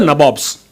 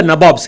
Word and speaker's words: Nabobs: They were called the Nabobs, N-A-B-O-B-S, which was what they pronounced the Nawabs as.